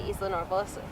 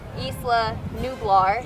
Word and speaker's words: Isla Nublar: to Isla Nublar. No, Isla Nublar. Isla Nublar. Oh my There's gosh, some I weird couldn't names pronounce in it.